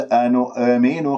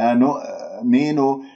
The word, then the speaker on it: أنؤمن: وأربعة خمسة من الشاطبية، وانتبهوا إلى أن عدم سحب ضمة النون إلى الهمزة من كلمة أنو، شوفوا أنو، نطقت الهمزة وأنا لازالت الشفاه مضمومة وهذا خطأ، لا تقلقل الهمزة، أنؤمن خطأ، لا تجعل همزتين، أنؤمن، لابد من قفل الأوتار الصوتية في الهمزة قفلا محكما حتى أنا لا تقلقل معي ولا تطلع عندي